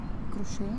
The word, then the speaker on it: crochet: So my soup is a crocheting crochet. Crochet. I is is is you pronounce it like French? Yes. Crochet. Cro crocheting. Crocheting. Crochet crocheting. Crocheting. And the T. Where is the T?